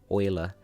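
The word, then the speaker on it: Euler: it sounds like it starts with an O, oiler. But that's because it's spelled uler and he was German. So it's not pronounced uler, it's pronounced oiler.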